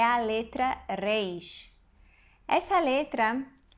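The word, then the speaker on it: ריש: letra Reis essa letra A melhor forma de nosso pronunciar uns é fazer um R forte vibrante intervocálico como na palavra amar é esse Hum mas a verdade é que os israelenses eles fazem um leite aqui um pouco na garganta é difícil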